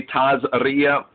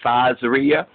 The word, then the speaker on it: Tazria: you know that E-T, like some say TAZRIA, Ashkenazi Jews will say TAZRIA, but Sephardic and other Jews will more pronounce it as TAZRIA.